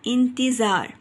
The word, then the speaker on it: انتظار: الف کے نیچے زیر، نون کے اوپر جزم کی علامت، تے کے نیچے زیر، زویں کے اوپر زبر کی علامت اور رے ساکن. تو لفظ بن گیا انتظار.